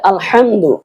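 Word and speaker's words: الحمد: উচ্চারণ করতে হবে তাহলে আলহামদু এখানে হবে বড় হা আলহামদু হামি জবর হাম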